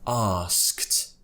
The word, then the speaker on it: asked: So by the end of this, you should be pronouncing this word as asked.